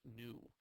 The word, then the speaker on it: nu: stands for frequency and it's pronounced new so when you take